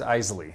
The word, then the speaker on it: Isley: It is Isley. I never knew how to pronounce Isley.